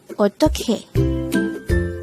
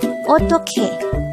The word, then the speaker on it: 어떡해: Eotteokhae. Eotteokhae. This is pronounced as a 3-syllable word. The first syllable is O, the second syllable is tok, the third syllable is he. Pronounce it with me. Eotteokhae.